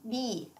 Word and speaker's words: bi: You could say B for an English alternative would be like B as in the insect. Yes, same pronunciation.